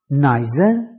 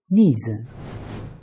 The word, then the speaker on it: neither: relation to two things neither can be pronounced neither or neither neither parents came to